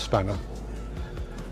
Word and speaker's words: Spanner: As you can see, it's spelled X P A N E R X Spanner, but it's pronounced Spanner.